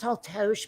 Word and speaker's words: Taltos: uh vlad vlad taltosh it says it's pronounced tall tosh but it's t-a-l-t-o-s uh i don't know let